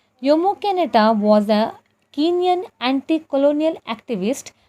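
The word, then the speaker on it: Jomo Kenyatta: as jomo canada but we are we are pronouncing it as yomo canada yomo canada was a kenyan anti-colonial activist and politician and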